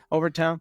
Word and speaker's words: Overtown: That's how you pronounce it. Overton. Overtown.